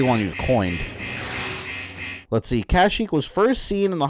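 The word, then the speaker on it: Kashyyyk: let's see when was kashyyk coined that's already one you coin let's see kashik was first seen in the holiday special uh in the holiday special first mention carries the pronunciation kazuk that's not that's not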